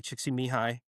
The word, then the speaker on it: Csikszentmihalyi: science, which the godfather of flow science, Mihai Csikszentmihalyi, he was actually now that's impressive.